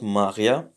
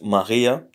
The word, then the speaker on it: Maria: So it's not Maria, but it's Maria.